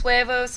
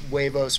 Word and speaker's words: huevos: The H is silent.